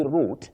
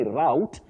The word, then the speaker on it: route: Matus karisa you say root in English. That is the British English. The British English root but you can also say route in American English then router routing